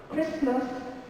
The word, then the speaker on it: Christmas: Silent T is not pronounced in these common words. Castle is never castle. Castle, Christmas, listen, whistle, and often.